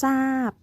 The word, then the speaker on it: ทราบ: คะ อ่ะ มี ทราย อ่าน ว่า ทราย ขอ ทราบ อ่าน ว่า ทราบ ทรง อ่าน ว่า ส่ง ต่อ